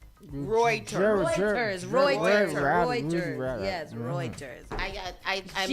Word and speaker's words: Reuters: in in DC and asked them how to pronounce it. It's Reuters.